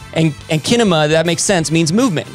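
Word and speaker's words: κίνημα: from the greek word it's spelled with a k so i believe it's pronounced kinema and kinema that makes sense means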